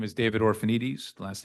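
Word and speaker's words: Orphanides: My name is David Orphanites. Last name is spelled O R P H A N I D E S.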